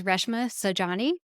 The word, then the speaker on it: Reshma Saujani: And full disclosure, I don't think I pronounced Reshma's name correctly while I was recording this, so I want to go back through and make sure I enunciate correctly that her name is Reshma Saujani, and she is the